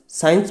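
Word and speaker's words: science: next है आपका साइंस साइंस में क्या है आपका जो सी है ना वो साइलेंट होना है ठीक है तो ये आपका एस वाई इ एन हो जाएगा यानी साइंस ठीक है साइंस का मतलब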